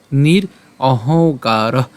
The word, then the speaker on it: নিরহংকার: পাই উ এবং হচ্ছে ক পাই তাহলে অহংকার নির অহংকার স শান্তিম একই রকমভাবেযে এখানে যে ম আছে ম এর উচ্চারণটা আমরা হস চিহ্ন দিয়ে অর্ধেক উচ্চারণ করছি।